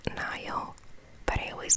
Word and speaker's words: Nile: the news started to flawed i know it's pronounced nile but i always called it neil i think someone picked up on that on